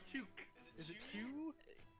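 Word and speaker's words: Tchugh: Yeah, my name's Chook. It is spelled T-C-H-U-G-H.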